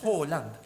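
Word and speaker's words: Haaland: de Ello escuché dice está mal pronunciado porque Halan se escribe con 2 a y claro, entonces como las 2 a y tanto la A con el circulito arriba se produce como una o.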